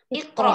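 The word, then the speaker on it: اقرأ: Jadi hamzahnya tidak dibaca, Kak. Bagaimana cara membacanya kalau tidak dibaca? Bismillahirrahmanirrahim. Iqra. Nah, cara membacanya seperti itu, bukan Bismillahirrahmanirrahim Iqra, bukan. Tapi langsung Bismillahirrahmanirrahim Iqra. Karena hamzah di sini merupakan hamzah wasol.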